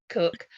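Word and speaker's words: Koch: know anything about Kenneth who I think is pronounced cook is that right yeah I did nothing about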